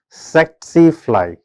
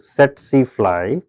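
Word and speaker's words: tsetse fly: call it as a set cly. Okay, here T is silent just uh for your information. It is transmitted through set sealy which is a glossina uh species which is found in suburban Africa.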